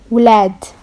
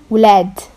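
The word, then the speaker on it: ولاد: Okay, children in Moroccan is ulad. Woolad. Woolad. W L A D. Woolled. It's like saying glad, but the G is a Y.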